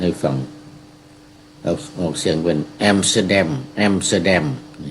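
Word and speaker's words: อัมสเตอร์ดัม: เขา พูด ให้ ฟัง ออก เสียง เป็น แอมstเตอร์แดม แอมสเตอร์แดม เ นี่ ก็ คือ เอ่อ ประเทศ เนเธอร์แลนด์ หรือ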